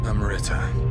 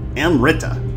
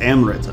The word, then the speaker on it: amrita: of the stones Amber amaretta oh oops Amrita he said that with three syllables don't call it a miraculous Stone amaretta but it's Amrita right the Philosopher's Stone oh